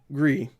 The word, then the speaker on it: Gris: it's grease whatever anyway gree I've heard I just I've heard it more times pronounced gree than Gris or cry or whatever I'm gonna say gris-gris